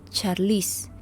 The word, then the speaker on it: Charlize: En la pronunciación angloamericana, este nombre comúnmente se dice Charlize, mientras que en los países europeos comúnmente se pronuncia como Charles.